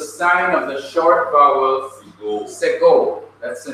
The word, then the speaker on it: segol: of the short vowel segol. That's the name of the vowel, segol. It's pronounced e as in bed, e as in bed.